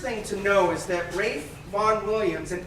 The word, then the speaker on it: Ralph: So the first thing to know is that Rafe Vaughan Williams, and his name is pronounced Rafe, even though it's not spelled like Ralph, it is Rafe Vaughan Williams.